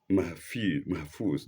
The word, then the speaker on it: Mahfuz: And mahfuz, not mahfuz, low mahfuz. And mahfuz is spelled capital Mahfuz. F-U-Z. The U-F is lengthened. F lengthened U-Z.